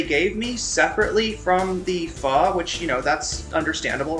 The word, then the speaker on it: pho: As a Vietnamese American, I can vouch that Irene is pronouncing pho correctly.